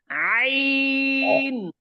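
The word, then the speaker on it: عين: এখন হরফের নাম বলবো আইন আইন আবার কারো কারো কিন্তু এরকম হবে আইন আইন দুইটা দুইটা যেন না হয় এক টানে হবে আইন আইন আইন আইন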